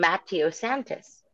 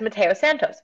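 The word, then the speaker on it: Mateo Santos: pronounce matteo santos but she kept saying matio santas and everybody's like no it's matteo santos and then and then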